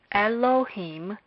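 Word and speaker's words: אֱלֹהִים: The third syllable is a closed syllable made up of the consonant he, the vowel hirek yod, and the consonant mem. Thus, Elohim is a word made up of 3 syllables.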